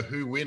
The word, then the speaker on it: Huynh: it's and it's a great surname you know who win i love it so you know now who